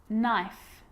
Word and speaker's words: knife: know you know this one okay is not pronounced when it comes before an M like knife no need knock not knowledge the letter L